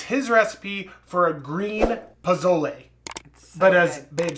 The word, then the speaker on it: pozole: this recipe it's his recipe for a green pozzole but as babe says puzzle i don't say it like that are you sure that's you that said it like that and it's actually pasoy well whatever it is kirby it is delicious